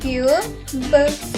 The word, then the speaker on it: cube: పదం యొక్క ఉచ్చారణ అవుతుంది క్యూబ్, క్యూబ్.